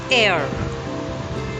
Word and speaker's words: heir: It's air. H is silent.